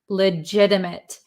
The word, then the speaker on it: legitimate: Legitimate. So if you listen to the pronunciation legit, this is a flap t. Legitimate mit. We don't say mate.